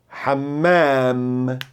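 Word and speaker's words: حمّام: Segura a primeira, ham, e lê a segunda, hammam. E lembre-se, esse risquinho é para esticar o som das vogais. Diga banheiro, hammam.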